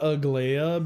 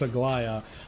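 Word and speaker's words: Aglaea: Um, I got Agia because I loved her. I'm saying her name wrong. It's Aia.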